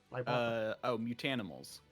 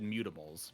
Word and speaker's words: Mutanimals: Mutanimals. Yeah, sorry, I said it wrong. You're saying, you said mutimals, but it's mutanimals. Close enough.